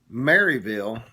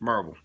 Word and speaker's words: Maryville: But if you are from around here, it's Marvel.